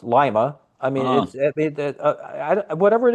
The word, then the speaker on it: Lima: Lima is pronounced Lima.